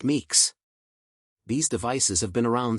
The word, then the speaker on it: MCU: Samsung they're also called microcontrollers or mcus pronounced Meeks these devices have been